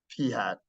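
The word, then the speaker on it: p̂: in math whatever but this is pronounced um P hat let's just go with P hat okay so then the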